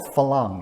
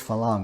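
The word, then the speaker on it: farang: call this dual pricing there's a term called falang it's spelled f-a-r-a-n-g so the r has a little trill to it a lot of thai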